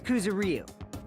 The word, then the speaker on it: Kuzuryu: My last name is Kuzuryu. My first name is pronounced.